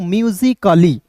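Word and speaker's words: musically: और अंतिम में वाई रहता है तो इसका उच्चारण ई के रूप में करते हैं, तो क्या हो जाएगा दोस्तों, म्यूजिकली।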